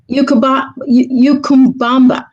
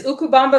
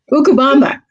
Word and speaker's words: Ukubamba: Now, Kyoko, in your story, Ukumbamba. Did I pronounce it right? I believe it's Ukubamba.